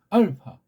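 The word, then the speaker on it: ἄλφα: 여기 동그라미가 피읍을 올려주니까 알파. 소리를 파자를 올리는 듯 하면서 발음하란 말이에요.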